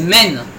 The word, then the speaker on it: Maine: Ouais, parce que le Maine c'est une seule syllabe. Moi j'ai fait Maine, c'est Maine.